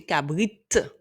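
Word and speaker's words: kabrit: servira au son que attention toutes les lettres se prononcent donc on va bien prononcer cabrite avec le T à la fin Ky et tch donc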